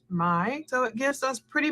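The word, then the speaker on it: Mai: you pronounce that kais m-a-i i might assume that's pronounced my so it gives us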